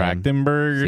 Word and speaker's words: Trachtenberg: Trachtenberg.